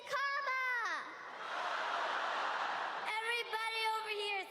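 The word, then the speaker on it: Kamala: First, you say comma like a comma in a sentence. Johnny say la like la. Put it together and it's one two three comma.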